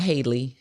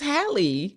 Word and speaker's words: Halle: us to know that it's pronounced the same way it is it is not Haley no I I see